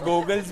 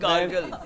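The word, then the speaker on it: gargle: गोगल्स भी किए मगर गला ठीक नहीं हुआ। गॉगल्स नहीं, गार्गल।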